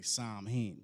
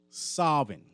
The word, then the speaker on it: Samhain: So sometimes you'll hear people say Samhain, but the way they pronounce it, it's a Celtic word. A Celt word is Samhain.